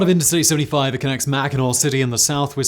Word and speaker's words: Mackinac: Though it can be spelled with AC or AW, as Michiganers are fond of pointing out, Mackinac is always pronounced with the R sound at the end.